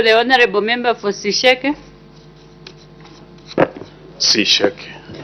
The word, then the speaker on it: Sisheke: Sisheke. That's the exactly correct pronunciation.